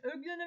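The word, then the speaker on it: Euglena: Öglena ve triponozomayı vermiş. Bu öglenadan bahsedelim. Öglena eyle u yan yana gelince ö diye okunuyor.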